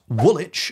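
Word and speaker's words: Woolwich: I'm on your tricks just ignore that W and you'll be fine however if you're looking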